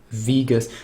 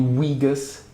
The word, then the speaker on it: Vegas: to use Sony Vegas Vegas I I'm I'm really trying my best to not say wus but try to pronounce the V properly like my my almost my Infamous wean I guess Sony weas and yeah cheesy sounds